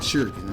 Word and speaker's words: shuriken: let me make sure I say it right shurikens I said Shu like Shi let stop infinite